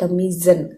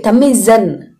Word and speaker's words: Thamizhan: i am pronouncing correctly the word tamizan tamil zen there is no yell okay tamizan okay movie name tamizan